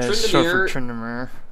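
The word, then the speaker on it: Tryndamere: And Locke, Upin says that Trinda, I think I'm pronouncing that right, Trinda? Trindamere. Yeah, Trindamere.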